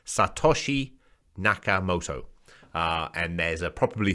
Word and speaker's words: Satoshi Nakamoto: is satoshi kamoto moto i can't even pronounce i'm sorry it's obviously japanese pronunciation satoshi nakamoto uh and there's a